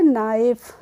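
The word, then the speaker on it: knife: एफ होता है तो इसको हम क्या पढ़ेंगे नाइफ यहां पर भी हम के का प्रोनाउंस एशन नहीं करते हैं तो हम इसको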